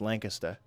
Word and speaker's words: Lancaster: It's, if you're from there, if you're from the one in New Hampshire, it's Lancaster. Welcome to Lancaster. Or Lancaster if you're not from there. It's spelled L-A-N-C-A-S-T-E-R, so Lancaster. You let the N sound come out your nose.